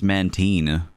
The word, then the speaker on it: Mantine: I think it's supposed to be pronounced Mantine. I think, but the spelling is really, like, really... It's supposed to be Manta Ray and Marine.